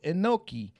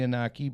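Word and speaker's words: Inoki: Muhammad Ali versus Antonio enoi I think it's actually inaki but I I think I did say it wrong in 1976 and Junior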